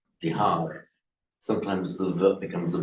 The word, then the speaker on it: Bihar: The other Northern Indian languages are not pronouncing the final a. That's why they do it bud, rag, bihar.